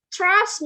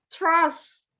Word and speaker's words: trust: Kemudian, trust me. Trust. Bukan terus bacanya. Trust.